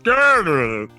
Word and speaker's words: Gourd: The monster down in Gourd Lake? It's actually pronounced Gurd.